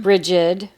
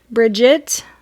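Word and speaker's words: Brigid: the goded bridgid and you might heard her hear her name pronounced a couple of different ways yeah bridgid Bridget with a t bridgid briged so briged is also another way to say it but when I think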